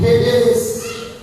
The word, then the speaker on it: Hades: आप इसको कुछ हेडेस पढ़ते हैं, कुछ हिडेस पढ़ते हैं, मतलब कई तरह के इसको प्रोनाउंस जो है वो किया जाता है, लेकिन मैं ग्रीक वर्ड बता रहा हूँ हेडेस।